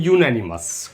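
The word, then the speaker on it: unanimous: Spelling देखें, UN अन से बनती है, एनिमस में अन लगा दीजिए तो बन जाएगा अन प्लस एनिमस, और इसका प्रोनाउंसिएशन हो जाता है यूनैनिमस।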